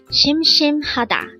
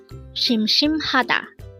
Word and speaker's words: 심심하다: 심심하다. This is pronounced as a 4-syllable word. The first syllable is shim, second syllable is another shim, third is ha, and fourth is da. Pronounce it with me. 심심하다.